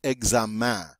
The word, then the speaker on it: examen: Notice what's strange about this word is we have the en on the end of that word, which is normally pronounced en, but the word is pronounced examen. This is an exception to the rule. It doesn't follow the regular pronunciation rules. For some reason, the en on this word is pronounced un.